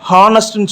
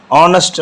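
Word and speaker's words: honest: இப்போ இது வந்து ஹெச் வந்து கான்சனன்ட் தான், ஆனாலும் நம்ம ஹானஸ்ட்னு சொல்லக்கூடாது. ஆனஸ்ட் அப்படிங்கிறதுனால இது வந்து வவல் உச்சரிப்பில் வர்றதுனால தி ஆனஸ்ட் மேன் அப்படின்னு நம்ம சொல்கிறோம்.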